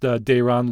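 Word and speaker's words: Daron: Dayron is pronounced Dayron, looks like Darren, D-A-R-O-N.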